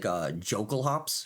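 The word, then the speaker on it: Jokulhaups: I guess there's also like Jokul hops, as most people prefer to pronounce it, in the in this specific set.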